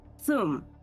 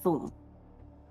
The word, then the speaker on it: Thum: Thum, not Thrum. I keep pronouncing his name as Thrum. It's Thum. But Them is specifically a people's god.